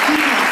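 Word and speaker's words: Gidi: México, la señora Karina Gida. Se pronuncia Gida.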